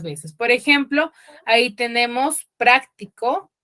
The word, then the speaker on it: práctico: ahí vemos la tilde Dónde está la tilde en en la primera palabra práctico En qué sílaba chicos en la amis en la otra cierto en la primera sílaba pero ahí práctico Qué